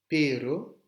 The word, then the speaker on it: pero: Sachez que un simple R et un double R ne se prononcent pas de la même manière. Pero, pero, ça veut dire mais je veux bien ça, mais je ne ferai pas ça. Pero, s'il y a deux R, perro, un perro, un chien.